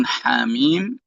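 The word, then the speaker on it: حم: Dan haknya jangan ditekan. Jangan hak, tapi ha aja.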